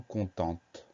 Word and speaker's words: content: Donc pas de difficulté particulière, si ce n'est ce T muet auquel on pense, auquel on doit penser, et ce son en qui s'écrit EN, content, C-O-N-T-E-N-T.